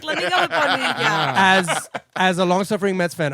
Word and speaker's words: Bonilla: She said my name correctly. EJ Bonilla. Bonilla. I thought it was Bonilla, but I was like, let me go with Bonilla.